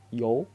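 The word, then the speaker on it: 哟: Nadanya salah, harusnya nada 2 naik ke atas. Yo bukan nada 4 seperti di gambar ya. Itu nada 4 salah, diganti jadi nada 2. Yo ke atas.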